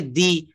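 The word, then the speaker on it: the: তুমি দিয়েছিলে, এখানে আপনাকে দি এগ ব্যবহার করতে হবে, উচ্চারণটা করতে হবে কিন্তু দি। তো কনসোনান্ট থাকলে আমরা উচ্চারণটা সব জায়গায় দা বলবো।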